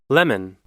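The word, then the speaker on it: leman: again during the edit it is actually pronounced lemon like the citrus fruit and I couldn't find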